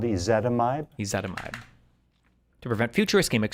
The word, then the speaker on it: ezetimibe: symptoms, but would be started on aspirin, rosuvastatin, ezetimibe. How do you say this again? Hold on. And if that doesn't work, add a drug called ezetimibe.